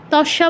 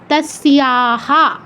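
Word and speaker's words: तस्याः: তস্যা বলা যাবে না, দন্তস্বর স, এর সাথে ইও আছে, তস্য, এর সাথে আকার তস্যা। এরপর বিসর্গের জায়গায় পূর্ণ হ আসবে যেহেতু পরে কিছু নেই। আর আরেকটা নিয়ম পড়েছিলাম না, যে বিসর্গর পরে কিছু না থাকলে, বিসর্গ যার সাথে যুক্ত আছে মানে দন্তস্ব, তার সাথে যে কারটা যুক্ত আছে আকার, সেটা হয়ের সাথে যুক্ত করতে হবে, তা সিয়াহা এরকম হবে।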